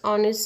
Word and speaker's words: honest: Here, while pronouncing this word, H is silent.